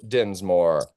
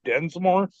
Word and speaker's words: Dinsmore: Dinsmore. Did I pronounce that right? yes, you did. Surprisingly enough. Amazing. Yeah, everybody thinks it has an E in it, so they're like, "Oh, Densmore."